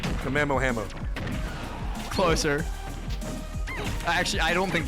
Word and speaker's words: Kamehameha: It's not Kamiyamame. Okay, then what is it? Kamehameha.